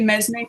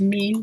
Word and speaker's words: mesne: rents to a tenant, if I always say mesne tenant, I think it's actually pronounced mean, but it's MESNE.